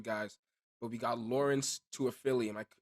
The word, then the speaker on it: Toafili: We had some good guys, but we got Lawrance Toafili. Am I pronouncing that correctly? Just to make Yes, sure I sir. do. And then Lawrence Toafili. Just so Lawrence everybody knows. Toafili, perfect.